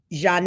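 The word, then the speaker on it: Zhané: on R&B Duo Zan's breakout album pronounced um pronounced Jan in 1994 along with other 90s acts later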